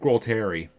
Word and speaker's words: Gualtieri: I can't believe I didn't manage to pronounce his first name right and almost pronounce his second name right. Rick Gualtieri.